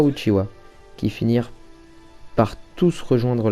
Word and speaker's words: Uchiha: puissance et la crainte savez vous que uchiha est une autre façon de prononcer uchiwa donc éventail qui est